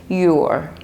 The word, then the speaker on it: you're: This becomes your. Your. You are really nice. You're nice. You're nice. Your. Your. So that's the pronunciation.